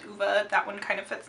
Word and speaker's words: Ove: looking at the spelling it looks like ove but it's uva because i listened to the audiobook so i know how it's pronounced that's the nice thing